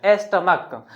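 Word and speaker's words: stomach: लिखते हैं यहां पे स्टमक एस टी ओ एम ए सी एच देखिए लास्ट में सी एच है बट इसका उच्चारण क्या हो रहा है क के रूप में स्टमक तो इसलिए इसमें सिर्फ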